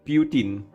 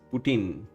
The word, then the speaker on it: poutine: Brits pronounce it putin. American says putin. Indian says poutine.